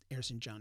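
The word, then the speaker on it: Erzincan: far as sogoman's hometown air synchan airson john harrison john is the proper pronunciation um and when they saw that the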